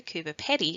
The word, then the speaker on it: Coober Pedy: You might hear people say Coober Pedy, but as we hear in the video, Coober Pedy is actually closer to the original pronunciation.